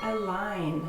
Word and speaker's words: align: So all of the following words have a G that is not pronounced. To align.